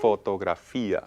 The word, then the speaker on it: fotografía: And you'll notice words right away that start to rhyme with fotografía, Alegría, alegría, mediodía. filosofía. All of those etcétera. ia ending words use an accent on the I.